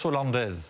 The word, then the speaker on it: Hollandaise: Sauce Hollandaise.